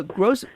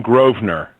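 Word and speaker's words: Grosvenor: we've got Ed uh gross right I'm not even gonna try it I'll let you say it it's Edwin groer from American Heritage magazine all right so the S is silent the S is silent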